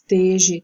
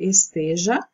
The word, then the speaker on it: esteja: mas sim seja esse esteje também não é correto o certo é esteja mendigo também não a